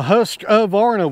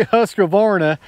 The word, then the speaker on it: Husqvarna: If you can grab my saw, I got my Husqvarna with me today. Whenever I say Husqvarna, I add an A to it. That's the way I like to say it.